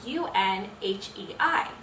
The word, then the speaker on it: Unhei: no when hate corrected it's spelled u-n-h-e-i it's pronounced unhei oh it's you hey